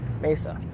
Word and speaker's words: Mesa: I was living in Mesa so and I'm excited right now it's pronounced miss Mesa everyone everyone's like Meza and like oh my